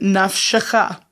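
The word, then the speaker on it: נַפְשְׁךָ: and the Shin consonants, what it's doing in this first syllable is to stop that syllabic sound. Naf. One syllable. Second syllable is not going to have an ah or o or oo vowel sound. It's just going to pronounce that beginning sound of the consonant to say sh. Naf shecha.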